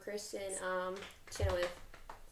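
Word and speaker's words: Kristin Chenoweth: And Kristen Chenoweth, I say her name? Yes.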